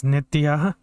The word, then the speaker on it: Nitya: I'm a council member for the 4th District, Oh, it's representing a huge Nitya. Sorry, I mispronounced the name. It's Nitya. Sorry about that.